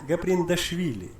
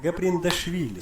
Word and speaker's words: Gaprindashvili: So opponent Nona Gabrielshuri. Well, who is that opponent? I hope there's a pronunciation for her opponent. Nona Gaprindashvili. Oh, that's the one. Nona Gaprindashvili.